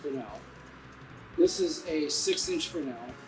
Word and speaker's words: Fresnel: uh it's actually uh spelled fresno but it's pronounced grinnell this is a inch grenade and by that